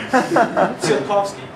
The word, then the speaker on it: Tsiolkovsky: Tsiolkovsky. Right. It's tough because it's spelled. It's because this right here in Russian Switzerland. is like a CH sound.